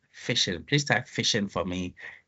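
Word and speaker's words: phishing: the chat fishing fishing it sounds like fishing and it's it's it's it's it was actually coined because of fishing but this one is spelled pH fishing fishing so fishing is another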